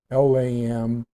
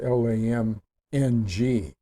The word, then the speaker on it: LAM: for that, is LAM, L-A-M, but it's pronounced L-A-M-N-G. It's spelled L-A-M, but it's pronounced L-A-M-N-G. LAM, LAM.